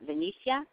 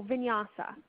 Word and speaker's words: vinyasa: now I'm looking for the – is it, pronounce it for me so I don't destroy it. Vinyasa? Oh, vinyasa.